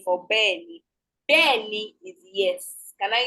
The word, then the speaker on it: bẹ́ẹ̀ni: Bẹ́ẹ̀ni is yes. You can see the correct pronunciation. So correct spelling for bẹ́ẹ̀ni.